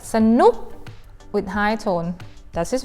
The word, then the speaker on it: สนุก: The first syllable, you pronounce them with a sound, but unstressed a, not strong a. That means the first word, สนุก we pronounce as สะ and then ทะ ตะ and สะ.